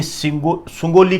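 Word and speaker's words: सुगौली: अब अंग्रेज विजेता रहे तो इस युद्ध के बाद में एक संधि सामने आई, सुंगोली की संधि। कई जगह इसको सगोली की संधि, सौगोली की संधि बोल देते, ये प्रोनाउंसिएशन होता है।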